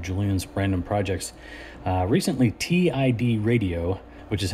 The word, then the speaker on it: TIDRadio: another installment of Julian's brandom projects uh recently TI radio which is how you're supposed to pronounce that TI D radio that kind of